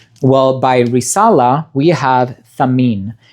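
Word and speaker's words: Thamiyn: Well, by Risala, we have Tamin. This one is spelled T-H-A-M-I-Y-N. A bit of peculiar spelling, but it's not English, right? So it's not intuitive to us.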